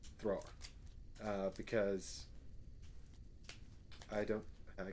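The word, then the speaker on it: Thrór: the legendarium of thror there's an accent on the o thrower uh because i don't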